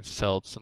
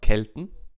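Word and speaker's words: Celt: in German it's K Kelton so for me it's kelt Kelton right well in general it's definitely kelt and not selt but anyway all right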